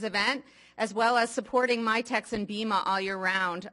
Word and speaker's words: MITX: myex community mitx um most people pronounce it myex and um we're a